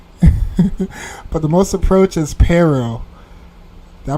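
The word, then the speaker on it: Paro: But the most approach is Pero. Did I pronounce it right? Yeah, Pero.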